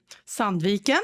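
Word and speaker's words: Sandviken: You were born in Sand Viken. Sanvic. Yes. Good.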